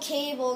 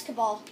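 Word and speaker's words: Kabal: um wait who's this oh cable now i remember oh my cabal wait i'm not i can't pronounce these names when it yeah it's cabal i was right well not right the first time but i'll just uh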